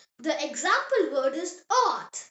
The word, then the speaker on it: Ort: O pronounced O. Like the O in the English word more. The example word is Ort.